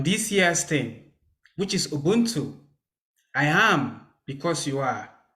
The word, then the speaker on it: Ubuntu: Did I say it right? Ubuntu? Ubuntu, yes. Ubuntu, OK.